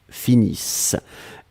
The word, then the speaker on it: finissent: Nous finissons, vous finissez, il, elle finissent. ISSENT, mais on ne les prononce pas, donc le ENT comme d'habitude.